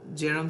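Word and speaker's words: Bjerrum: Now this is the arcuate or Jerem scotoma, not the B here is silent.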